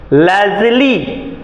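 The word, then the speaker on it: Leslie: लेखिका है लेजली नूरस लेजली यहां ई साइलेंट है ले लेजली नहीं साइलेंट नहीं है लेजली नूरस फिर से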